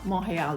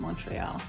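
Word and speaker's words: Montréal: from montreal quebec canada uh mongeau that's how they pronounce it not montreal so i've been practicing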